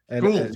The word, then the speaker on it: Gould: I say that right. Is I saying it right? Gould? Gould, yep. You got it.